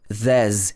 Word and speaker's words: there's: So pay attention to the pronunciation of there's here. There's a will, there's a way. Okay, so these words join together. The S in there's actually changes to z.